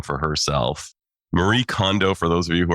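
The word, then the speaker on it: Kondo: Marie Condo for those of you who are not Japanophiles like me I lived in Japan so I must pronounce her name properly.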